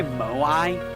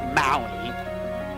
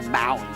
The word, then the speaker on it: Moai: By the way, we say Moai, but it's not Moai. It's like Maui. Apparently it's pronounced Maui. You know, like, the island.